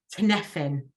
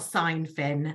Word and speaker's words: Cynefin: I said it wrong for about a month before I realised. Cynefin. Not Seinfin, as I used to say.